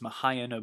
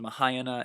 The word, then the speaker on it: Mahayana: now know today as Mahayana Buddhism. It's pronounced Mahayana and sometimes it's pronounced Mahayana. Both just different ways of saying it.